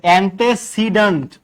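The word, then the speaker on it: antecedent: ঠিক আছে ant anti না এন্টে উচ্চারণ ঠিক করেন ঠিক আছে এই এন্টি মানে বিরোধী এন্টি মানে কি বিরোধী আর এন্টে মানে হচ্ছে পূর্বে তাহলে এন্টেসিডেন্ট সিডেন্ট মানে হচ্ছে পূর্বে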